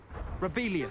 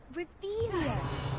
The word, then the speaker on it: Revelio: Rebellious. Saying it wrong. Revelio. Much better.